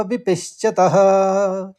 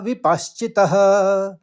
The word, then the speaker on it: विपश्चित: यतो यते पुरुषस्य विपिश्चत इंद्रिय प्रमाथिनी हरती प्रसम मनः एक बार और सुनिए यतो यते पुरुषस्य विपश्चित इंद्रिय प्रमाथनी हरती प्रसभम मनः अब चरणबद्ध तरीके से इसका उच्चारण समझेंगे।